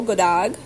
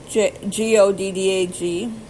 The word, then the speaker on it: god dag: Hello, god dag. G-O-D-D-A-G, god dag.